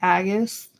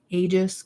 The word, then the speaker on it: aegis: been using the aegis I keep calling it agus and people keep giving me crap for it so I'm trying to get used to saying aegis cuz I guess it's how people pronounce it to me it